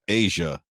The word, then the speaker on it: A'ja: A apostrophe J-A is pronounced Asian.